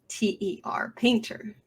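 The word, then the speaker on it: Paynter: a composer cinematography is robert paint or painter but it's spelled like pay pay p-a-y-n-t-e-r painter the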